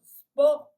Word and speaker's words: sport: Profitez-en de votre sport préféré. Attention à la prononciation es liquide. En espagnol, ça n'existe pas. On dit es, pas en français. En français, c'est sport.